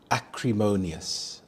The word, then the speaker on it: acrimonious: Acrimonious. Acrimonious. The stress is on the third syllable. Mo. Acrimonious.